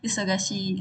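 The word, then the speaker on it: isogashii: Seman isogasihi. Nah, panjang itu perhatikan di sini itu i-nya ada i lagi ya. Jadi dibacanya panjang isukasihi gitu.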